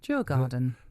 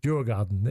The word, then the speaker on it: Djurgården: How do you pronounce the team that Chelsea beat on Djurgården. Djurgården.